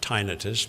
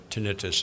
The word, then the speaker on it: tinnitus: Some people pronounce it tinnitus, but tinnitus is the usual pronunciation.